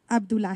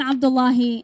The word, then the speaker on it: Abdullahi: thank you our next speaker is East Abdullah he she's the director of civic engagement and community partnerships for Hana partnerships for the advancement of new Americans my name is it's Abdullahi and it's spelled is last name